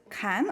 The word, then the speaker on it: Can: I have the pleasure to invite a digital new media artist, Kan or John or... Yeah, it's actually John. It's a Turkish name. It's pronounced just like Jon in English.